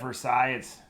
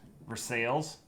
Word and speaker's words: Versailles: um what's that uh instead of Versailles for sales yeah for sales um